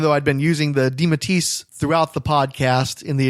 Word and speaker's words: DeMatteis: we determined at that time that we were pronouncing it correctly by saying DeMatteis.